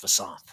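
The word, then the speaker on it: Visanthe: little, but it's actually Vasanth Shianko, who did it in 2000. He at the end of his tenure, he was wanting to be pronounced Vasanth.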